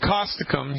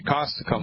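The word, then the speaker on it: Causticum: to try you ready yes all right it's caustic um spell that see like Charlie a u s like Sam T like Thomas I see like Charlie you M like Mary caustic um I'll spell it again ca us T hi-c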